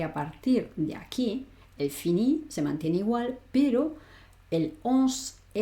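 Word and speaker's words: finissent: Finison nufison bufinisé il finis el finis. Acuérdate que esta aunque la escribo, no la pronuncio, con lo cual voy a decir il finis.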